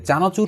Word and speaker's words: চানাচুর: করেন এই শব্দগুলোর মধ্যে চানাচুর শব্দটা আমি যখন উচ্চারণ করছি করছি চানাচুর তার মানে একটু কম্পিত হচ্ছে ব্যঞ্জনটা এই কারণে এটাকে বলা হয় কম্পিত ব্যঞ্জন যে চানাচুর ওয়ালারা